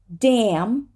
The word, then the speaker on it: damn: the next syllable and we're just going to need to say it damn damn but damnation damnation